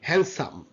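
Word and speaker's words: handsome: okay ওয়াইনস day okay day ওয়াইনস ডে এন্ড হ্যান্ডসাম হ্যান সাম হ্যান্ডসাম hawker chief হারিফ miss hawker D silent okay wedge bad wedge end in this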